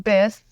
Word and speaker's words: Biss: Well, it's one letter off from Biss, the nickname that my sister gave me, which rhymes with kiss.